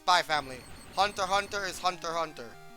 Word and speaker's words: Hunter x Hunter: family spy X family but it's by Family Hunter Hunter is Hunter Hunter it's Hunter x Hunter but it's actually pronounced Hunter Hunter uh what else there's another show that was